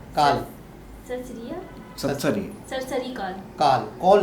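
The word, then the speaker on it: Akal: सत श्री काल काल काल सरसरिया सत्सरी सरसरी काल कॉल नहीं, कॉल नहीं बोलती मैं, काल बोलती हूँ।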